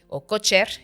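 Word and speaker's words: Kocher: Entonces es un punto que se llama punto de cojer cocher. Pero en alemán si se pronuncia a Entonces es 1 cm por adelante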